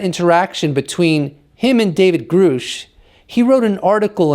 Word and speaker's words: Grusch: is referencing The Whistleblower David grou and grou is the correct pronunciation to give some context